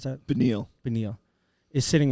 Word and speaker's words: Beneil: Don't forget, Benail Darush, how do you pronounce that? Beneil.